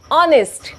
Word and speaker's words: honest: बट इफ आई से honest, honest, here h is not vowel but the sound is starting with vowel sound because h is silent.